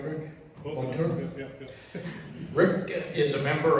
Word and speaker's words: Monture: Am I pronouncing that right, Rick? Monture?